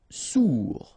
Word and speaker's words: sourd: Sourd, final day not pronounced, O-U together, ou sourd.